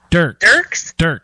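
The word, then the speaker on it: Dierks: How do you say his name? Dirks? Yep. So don't really pay attention to the E then.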